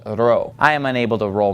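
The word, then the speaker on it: Ρω: Whenever you see this, when you're reading Greek, you need to get used to pronouncing this as an R sound and not as a P sound.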